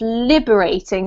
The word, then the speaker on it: liberating: word this one here the emphasis is on the first syllable so it's liberating not liberating okay liberating liberating that's better this one is authenticity